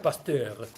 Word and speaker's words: Pasteur: Se escribe Pasteur, se pronuncia Pasteur.